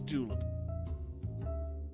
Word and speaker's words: julep: How's it pronounced? Julep. It's julep.